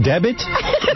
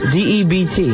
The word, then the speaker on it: debt: A special debit? Debit? Spell the word. D-E-B-T. All right, now spell it out. Sound it out. Debit. What is that word, D-E-B-T? Debt.